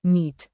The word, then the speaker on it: NEET: The NEET exam is pronounced just like the word NEET.